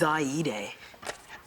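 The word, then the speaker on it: Xayide: on the names okay it's zyeday how do you spell it x-a-y i-d-e who's she the bad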